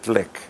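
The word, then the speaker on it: Glück: Um, there's an American poet called Louise Glick. It's spelled G L U C K.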